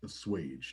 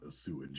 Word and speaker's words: assuage: Shirley, Yes, I think that word is pronounced assuage, not a sewage.